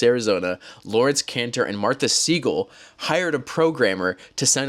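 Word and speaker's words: Siegel: 3 months later, in April of 1994, two lawyers from Phoenix, Arizona, Lawrence Caner and Martha Seagull, I always say Seagull, but it's Seagal.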